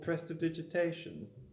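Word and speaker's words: prestidigitation: blood mages oh me to perform a simple presta digitation did i pronounce that right you did yes you may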